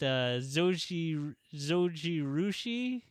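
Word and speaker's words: Zojirushi: I was reading an article, I believe it's the Takeout, that put it against Zoji Rushi. That's the correct pronunciation.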